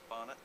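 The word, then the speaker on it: Barnett: director how do you say your last name bner remember that I'm the creative director uh which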